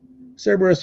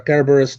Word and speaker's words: Cerberus: Chimera Minotaur and uh Cerberus or kerberus depending on which way you want to pronounce that let's see if I